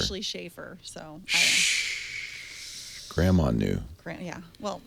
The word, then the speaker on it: Schaefer: That is Schaffer. Schaffer. I'm sorry. How long have we worked together? I'm sorry. 3 years plus. It's spelled Schaefer. Schaefer You know what?